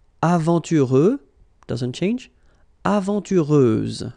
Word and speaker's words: aventureuse: Aventureuse, final S, not pronounced.